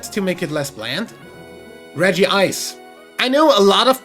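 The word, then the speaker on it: Regice: of people pronounce this red ice and not reggie eyes but one every other reggie is called reggie something and two the japanese name is reggie isu therefore reggie ice is the correct pronunciation fight me either way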